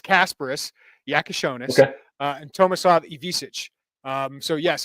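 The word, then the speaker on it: Kasparas Jakučionis: Yeah, I'm getting pretty good at like the accented words, and I'm getting better at the pronunciations. He says it's Kasparis Yakashonis and Tomislav Ivisic.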